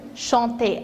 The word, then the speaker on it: chantent: Deuxième personne du pluriel, vous chantez avec EZ. Et la troisième personne du pluriel, il et elle au pluriel, c'est chante. Observez bien, même si on a ENT, on prononce E.